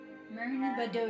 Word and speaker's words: Mern Badur: Anyway, he responds with a name, Mern Budher. Who? Mern Budher. And that's spelled. Mern is the first part. It's a 2-word name. Mern Space. BadUhr. Mern Badur.